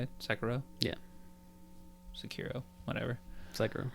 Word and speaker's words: Sekiro: Sekiro? Yeah. Sekiro. Whatever. Sekiro. Sekiro.